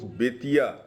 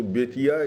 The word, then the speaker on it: Bettiah: That is, folks, Betia. Which is mispronounced, which is today sounds similar to Betwa. Betwa means sun. So Betia is sun.